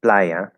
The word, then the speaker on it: playa: So it's quiero, so the is stressed, and playa, the pla is stressed.